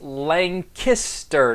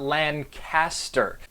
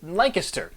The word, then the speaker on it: Lancaster: probably already heard me say it it is pronounced Lancaster not Lancaster the number one way to blend in is to pronounce it Lancaster that's it nothing gives away somebody from out